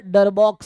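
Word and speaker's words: Darboux: यू का मतलब होगा, तो इसको बोलते हैं अपर डरबॉक्स सम, रीमान सम नहीं डरबॉक्स सम, ठीक है। सो स्पेलिंग क्या लिखा है, बी ओ यू एक्स, ठीक है ना।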